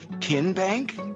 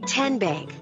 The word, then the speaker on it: TN Bank: the name tn bank no tin bank uh-uh so what is it ten bank ten as in tennessee right here where all